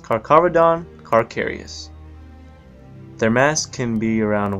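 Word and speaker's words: Carcharodon carcharias: all the major oceans their scientific name is pronounced carcavedon carcarius their mass can be around 1 500 pounds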